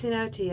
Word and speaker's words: cenote: I really need to double check my pronunciation of that word, because one sec. It's Cenote. I got it wrong both times.